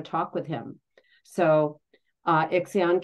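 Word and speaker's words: Ixion: with him so uh iion came up or exion as Heather Ensworth likes to say I like that pronunciation so up to Olympus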